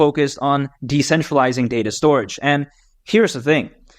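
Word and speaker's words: Storj: a at jasm we take a look at storage it's spelled stor but it's pronounced storage there's also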